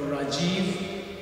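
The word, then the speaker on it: Rajeev: sure definitely the name is very simple Dr Rajiv you want to spell that r AJ e e v so name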